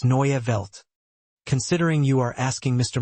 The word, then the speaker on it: Neue Welt: The stress falls on the first syllable of newi, and the inwelt should be pronounced clearly. It's Neya.